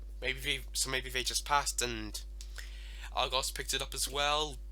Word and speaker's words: Argos: Instead, a different store is called Argos. It's pronounced Argos and these dinosaur reviews, not Argos.